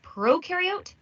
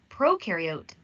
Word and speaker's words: prokaryote: Prokaryote, the pro rhymes with no, and they have no nucleus, which holds the genetic material and controls the cell's activities.